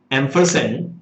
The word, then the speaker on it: ampersand: why two signs were there uh exactly you pronounce it as ampersand but loosely we say end sign so this